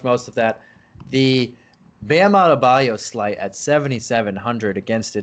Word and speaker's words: Adebayo: are CCR fans, but I always think of him in Born on the Bayou, and that's how I say his name, like Bam Adebayo, just like that.